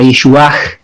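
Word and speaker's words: ישועה: eso está la palabra Yeshuach con el H al final. Bueno, dado que yo nací en Rumanía, puedo pronunciar el H al final, Yeshuach.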